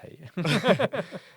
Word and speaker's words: Hey: Ja, ich probiere sehr gerne mal dieses Hey. Es wird High ausgesprochen, wie Hi, bei okay. Hydrated zum Beispiel.